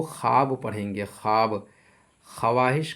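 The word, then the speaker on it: خواہش: देखिए यह वाव लफ्ज में लिखे होने के बावजूद पढ़ी नहीं जाती है। यानी लिखावट में यह वाव मौजूद रहती है, लेकिन पढ़ी नहीं जाती है। जैसे ख्वाब, ख्वाहिश, खुश खुर्शीद।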